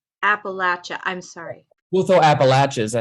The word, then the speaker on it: Appalachia: Appalachia. Appalachia.